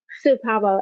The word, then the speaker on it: CPOMA: Sapamo. Supamo.